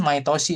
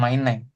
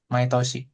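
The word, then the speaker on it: 毎年: Kalau my setiap tahun My Toshi ya sori bukan my Neng My Toshi.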